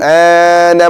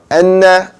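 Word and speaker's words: أَنَّ: You hold that N sound. Ashhadu anna Muhammad. That's the proper way to say it. Anna is on the right side. The wrong way, anna, that's the wrong side.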